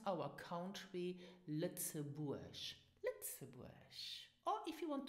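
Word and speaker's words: Lëtzebuerg: And pronounce our country Lützeburg.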